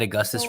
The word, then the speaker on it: Augustus: Is it ironic that Ed Augustus rhymes with racial injustice?